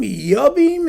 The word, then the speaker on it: Jochum: Joachim, Yochum, and Joachim, and and and and Jochum, and and people with people with J's who are pronounced like Y's and things like that.